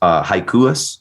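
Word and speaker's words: Hakius: Chris Hikuis, I think is probably how you pronounce that.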